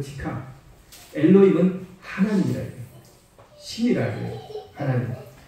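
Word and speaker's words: אלהים: 자, 요거를 그대로 히브리어 글자로 그대로 발음을 읽으면 엘로힘 이렇게 됩니다.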